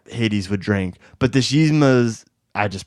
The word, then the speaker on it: Yzma: And then kind of the last one I'll mention is, I think I'm going to mispronounce her name, Yzma.